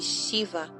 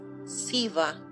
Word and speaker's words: Shiva: Pronuncia-se Shiva e às vezes Siva, representando na mitologia como o senhor dos renunciantes.